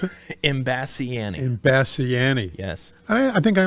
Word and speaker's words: Imbasciani: How do you pronounce it? Imbasciani.